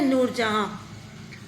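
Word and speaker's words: Nur Jahan: ए एच ए एन जहां इसको जहां लिखते हैं लेकिन प्रोनाउंस करते हैं नूर जहां फिर नंबर फिफ्थ अ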